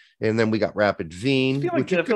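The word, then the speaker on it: Wien: got cologne we've got kern it's not what's pronounced in germany and then we got rapid veen i feel like when you say i feel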